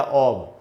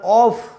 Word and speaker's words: of: वो बात यह है दोस्तों कि ओ एफ जो शब्द है, इसके दो उच्चारण है, अब या ऑब। इसका उच्चारण ऑफ नहीं होता, जैसे कि आम धारणा है, जैसा कि जनरल परसेप्शन है, इसको ऑफ नहीं बोला जाएगा।